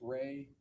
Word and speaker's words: Rey: There's also a visual spatial ability test and I'm going to have you explain or pronounce that for us. the REY test. Ray, the Ray Ostrich complex figure test.